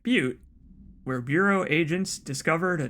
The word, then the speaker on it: Butte: I'll say it right, Butte, where Bureau agents discovered a translocative light switch cord. Bureau agents arrived at the home of a local celebrity located at Butte, not Butt, Montana, which had been connected